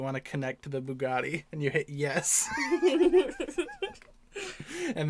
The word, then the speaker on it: Bugatti: it right right yeah yeah it's called a Bugatti right yes oh okay so in my car when you try to connect to the Bluetooth it'll say do you want to connect to the Bugatti and you hit yes and then you get